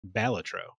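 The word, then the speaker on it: Balatro: game that's been uh confirmed to be pronounced by its creator as batro batro it's Latin it's it's Latin for Joker it's you can look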